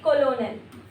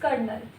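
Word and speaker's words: colonel: अगर आप इसको रीड करेंगे तो आप पढ़ेंगे कोलोनल। कोलोनल बट the pronunciation is कर्नल। Pronunciation is कर्नल। Hindi explanation spelling misleading है।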